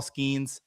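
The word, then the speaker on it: Skenes: Justin Verlander, Paul Skeens, or Max Fried?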